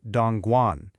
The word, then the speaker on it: Dongguan: It's Dongguan, pronounced Dongguan.